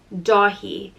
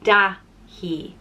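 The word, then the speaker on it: Dáithí: and it means swiftness or nimbleness and it's pronounced do he DOI and it can also be spelled without the F over the a which would change the pronunciation to dahi dahi and this is the Irish of the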